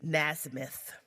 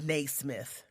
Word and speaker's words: Naismith: James nasmyth I think that's how you say his name I don't know oh excuse me Titus told me it's Naismith all right well he